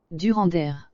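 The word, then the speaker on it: Durendaire: If anything, I'm just pronouncing the E kind of wrong. Durander. It's more like a eh.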